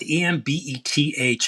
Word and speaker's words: Embeth: Beth, Embeth, and her last name is like David with a TZ. David's, and she pronounces it David's.